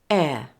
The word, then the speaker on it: heir: me give you a list of exceptions where the H is silent in words there aren't many in British English listen and copy me honor honest our air now let's try some